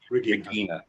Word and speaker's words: Regina: Your mother, was it pronounced Regina? Tell me the correct pronunciation of her first name. Regina, that's what I thought.